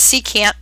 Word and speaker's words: secant: It's pronounced secant.